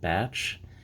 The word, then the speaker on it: Bache: ounce batch silver bar yes that's pronounced batch it actually is an